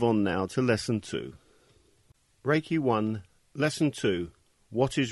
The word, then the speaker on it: Reiki: meaning universal life force although the proper Japanese pronunciation is Reiki it has been westernized to Reiki ray means universal omnipresent